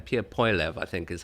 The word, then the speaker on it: Poilievre: that even the leader of I can never pronounce his last name, Pierre Poilievre, I think is how he pronounces it.